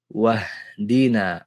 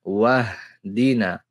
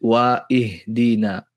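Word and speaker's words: وَاهْدِنَا: Wir lassen das Hamzatul Wasl einfach ausfallen, springen vom Wow direkt auf das vokallose H und sagen dann Wahdina, Wahdina, nicht Wa-Ihdina.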